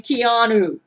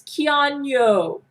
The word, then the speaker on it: Keanu: Keanu's name correctly, because he does not like it when you pronounce his name Keanu. He says, no, Gail, pronounce my name right. It's Keanu.